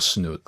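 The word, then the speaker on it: snus: Is it snooz or snoot like snooze? Yeah. Snooz.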